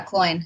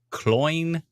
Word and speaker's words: Cloyne: Yeah, Cloyne. It's like coin. Oh, it's like coin. Yep. How do I not remember these things? I remember that from a chat message one time. Yeah. Cloyne, like coin.